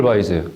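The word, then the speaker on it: Weisz: 해내야 합니다 라 스타트는 레이첼 바이즈 레이첼 와이즈가 연기를 하고 있습니다 원래는 바이로 발음해야는데 최근에 더 랍스터라는 영화에서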